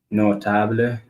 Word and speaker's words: notable: The cable, el cable, notable, terrible, posible, flexible. Okay, these Spanish words that end in BLE are stressed at the end conditional on the next to the last syllable. Example, notable. So we're gonna be like